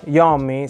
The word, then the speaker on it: Iommi: Ah, visto che ci siamo, Iommi si pronuncerebbe Iommi correttamente. Lo italianizzo, quindi concedetemelo, ok? Io lo chiamerò Tony Iommi.